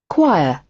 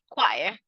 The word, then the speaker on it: choir: and here you're going to listen to the pronunciation for British English choir choir choir and then from American pronunciation choir choir